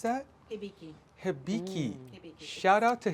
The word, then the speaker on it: Hibiki: And how do you pronounce that? Hibiki.